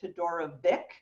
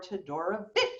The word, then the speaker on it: Todorovic: was born in a country that no longer exists, the former Yugoslavia, and it is pronounced either Todorovic or Todorovic. Vich. Yeah. Vich. Whichever you want to do is fine with me.